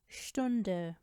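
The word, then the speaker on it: Stunde: लेकिन अगर ये वर्ड्स के शुरू में साथ ही फे या ठे के साथ आए तो इस स का साउंड हो जाता है श।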